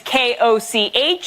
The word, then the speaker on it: Koch: My last name is K-O-C-H. It's meant to be pronounced Koch, but if you're living in an English-speaking country, 8 out of 10 times I am Olga Koch.